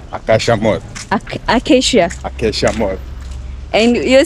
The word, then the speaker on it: Acacia: You know that tree called acacia? Yeah, acacia.